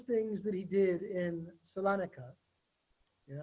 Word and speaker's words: Salonika: Salonika, right? Salonika. Thank you. Okay. Okay. So in there, he does more scandalous things. And one of these scandalous things that he did in Salonika, you're not going to believe this one, is